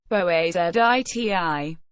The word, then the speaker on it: Boğaziçi: the Bosphorus, �bεsfərəs or �bεspəres, or Bosporus, �bεspəres, Ancient Greek, beta omicron sigma pi omicron rho omicron sigma, Bosporos, Turkish, Boğaziçi, pronounced boağaziť, is a narrow, natural strait and an internationally significant waterway located in northwestern Turkey.